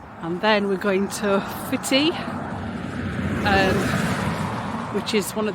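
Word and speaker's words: Footdee: And I'd read about this little hidden gem in Advine called Fitty, which is how it's pronounced.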